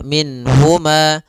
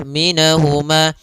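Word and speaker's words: مِنْهُمَا: Nun di sini harus jelas karena bertemu dengan huruf ha. Maka tidak boleh ditahan. Misalnya ditambah dengan gunah minhuma. Ah, ini enggak boleh. Atau ditahan suaranya minh enggak boleh juga. Maka langsung saja minhuma. Dan dia tidak boleh mantulnya, tidak boleh minahuma.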